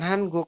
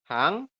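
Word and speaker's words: 한국: Ini kan tulisannya Hanguk. Kayak gitu ya. Tapi nanti teman-teman bacanya bukan Hanguk. Berarti gimana dibacanya? Menjadi Hangguk seperti ini. Dibacanya adalah Hangguk ya Robun.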